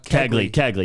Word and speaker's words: Kegley: How do you actually pronounce it? Kegley, yeah. I just thought about Kegels when you said that.